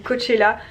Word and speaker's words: Coachella: Coachella, ça s'écrit, mais ça se dit Coachella.